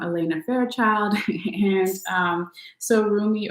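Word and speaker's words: Rumi: message here is your roomie oracle message um and it's from this deck is from elena fairchild and um so roomie or remy depending on how you pronounce it i usually say roomie but whatever um he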